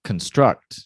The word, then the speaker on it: construct: and help to construct now construct so this distressed syllable is the second construct construct construct construct the environment has